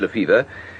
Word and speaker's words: Lefebvre: Spelt Lefebvre, but pronounced Lefevre.